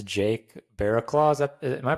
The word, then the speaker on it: Barraclough: today Mr YouTube handles ranted Japan it's Jake Barac Claus is that am I pronouncing that right yeah yeah that's it Jake Barac nice yeah it sounds better with the British